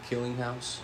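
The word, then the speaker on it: Kellinghaus: name is Josh killing house what is it killing house yes how do you spell that k e l l i n g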